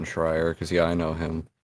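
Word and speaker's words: Schreier: goes especially for sure you said it right Jason shrier because yeah I know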